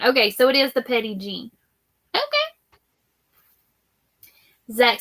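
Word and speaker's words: Petit Jean: And then Regina says you have Petite Jean, which is pronounced Petty Jean meats, and you will throw rocks at any other brand. Okay, so it is the Petty Jean.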